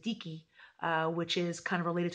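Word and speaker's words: dike: Theo Theo's and Vicki or we pronounce it deaky which is kind of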